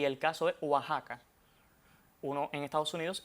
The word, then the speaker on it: Oaxaca: Y esta X suena entonces como J en esos tres topónimos arcaizantes, o sea, topónimos que en un pasado mantuvieron esa X etimológica y su pronunciación es como J.